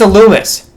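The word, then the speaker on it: Illumise: Illumis. I know you pronounce this in a French way. I don't give a shit about French people. It's Illumis.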